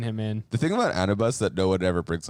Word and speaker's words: Anubis: to say it correctly I'm sorry but it's Anubis Anubis I mean I say that because I've